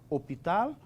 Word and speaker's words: hôpital: Hôpital commence avec H muette.